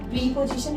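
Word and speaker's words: preposition: इट इज प्रेपोजिशन, इट इज नॉट प्रीपोजिशन, इट इज प्रेपोजिशन।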